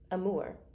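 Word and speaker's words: Amur: Pronounce A M U R. Amore.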